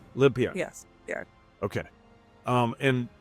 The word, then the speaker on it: Limpiar: i a r and it's a Spanish word right that's right how do you pronounce it uh limpar limpar yes yeah okay um